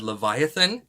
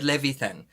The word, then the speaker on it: Levithan: about this book and i called the second author david leviathan and i got that so wrong so i'm so sorry that i butchered his name it's david levithan and i'm really excited